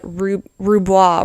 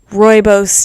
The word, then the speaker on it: Rooibos: It's come to my attention that I've said Roubois wrong. It's not Roubois tea. It is, let's see. Rooibos tea, that's a redaction.